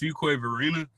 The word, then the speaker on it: Fuquay-Varina: it okay so uh it's for it's really pronounced Fuquay Varina UK Barina is that correct did I mess